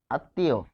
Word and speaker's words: আত্মীয়: শব্দটা আমরা লিখবো যে আত্মীয় আত্মীয় ফলে এখানে পার্থক্যটা কোথায় হচ্ছে উচ্চারণে আত এখানে কি পাচ্ছি ত হসন্ত যোগ ম তার মানে ম কার সাথে বসেছে ত এর সাথে বসেছে যেহেতু ত এর সাথে বসেছে তাহলে ত হবে দুইবার এখন প্রশ্ন হচ্ছে এখানে কেন রসয়ী হলো?